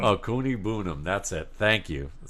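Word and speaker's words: Okwuegbunam: a – to me, he's more like Albert Ogwabunam, right now at this level of his We call game. him Albert O. Albert O, yeah. I forgot how to pronounce his last name. Sorry. Okuigbunam. Okuigbunam.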